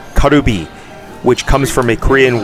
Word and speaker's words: カルビ: Here in Japan, it's pronounced Karubi, which comes from a Korean word for rib.